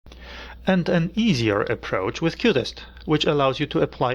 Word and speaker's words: QUTest: The last thing I'd like you to check out is the QTest unit testing harness, pronounced like the cutest little thing, which is now part of QTools.